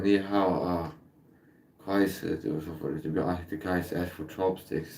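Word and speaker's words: 你好: Ni hao. That's how you say it.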